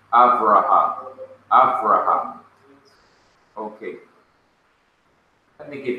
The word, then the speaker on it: Avraham: We pronounce it in English, Abraham. They say Avraham.